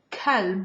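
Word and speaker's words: كلب: If I use the soft K, kalb, with the same word, kalb, it means dog.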